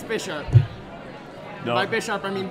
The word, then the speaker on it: Bisharp: someone just asked for the pronunciation of Bisharp. So let's just go down the line and say what it is. Hey, no. It's Bisharp. I know that's UN. Bisharp. Bisharp. Bisharp. Bisharp. Alex? Be sharp.